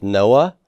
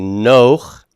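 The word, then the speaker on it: נֹחַ: Remember that furtive pathak like with Noah? It's really Noach, but it becomes Noach.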